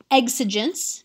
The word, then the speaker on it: exigence: part of context right that's the rhetorical situation exigence that's how that word is pronounced the e is silent exigence is an